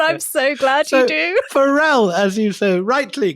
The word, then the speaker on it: Pharrell: I don't know whether you're into Farrell, the rapper. I'm into him so much that I know he's pronounced Pharrell.